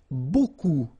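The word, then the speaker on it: beaucoup: Remember, you don't pronounce the final p. Okay. And then you've get this combination of vowels u a and you get the sound o.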